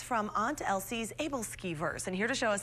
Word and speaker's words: æbleskiver: that it's real okay some people do say abel skivers but we have always said ebola skewer evascula yeah okay i'm